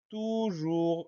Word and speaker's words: toujours: jour jours/2 tension et d'une lettre muette à la fin de toujours on pense à mettre un ace en fait c'est un mot